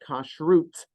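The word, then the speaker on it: כשרות: magazine called kashrus magazine I say that on purpose because that's how it was written so I in modern Hebrew we say the word kashrut in uh old-fashioned Hebrew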